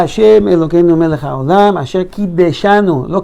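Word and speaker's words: קִדַּשְׁנוּ: Baruch atah Hashem Elokeinu melech haolam asher kideshanu, lo kidshanu, kideshanu b'mitzvotav, no v'mitzvotav, v'tzivanu al netilat yadayim.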